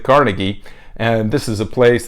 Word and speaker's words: Carnegie: places like Carnegie Hall its Carnegie Hall but most people again pronounce it Carnegie and this is a